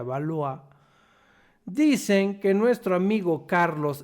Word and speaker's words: Valois: francesa Isabel de balois escribe valois Pero supongo que se pronuncia valoa dicen que nuestro amigo